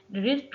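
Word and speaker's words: wrist: तो रिस्ट में डब्ल्यू हमारे पास साइलेंट होता है, रिस्ट डब्ल्यू लिखा जाएगा लेकिन पढ़ा नहीं जाएगा।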